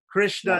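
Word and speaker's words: कृष्ण: Krishna is 2 syllables, kri and shna. But shna is a samyukta varna, and kri is short, is a hrasva. Yeah, Hrasva Krish becomes a heavy syllable.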